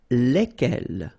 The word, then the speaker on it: lesquels: All right, so final S is not pronounced. So here, when you get this L-E-S, okay, it's just like the article, if you remember, les, okay? So it goes like lesquels, all right?